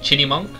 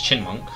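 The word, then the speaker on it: Chyinmunk: I kind of went around calling it Chinny Monk, but then I realized the Y comes before the IN. Okay, she says Chinmonk. The Y is silent.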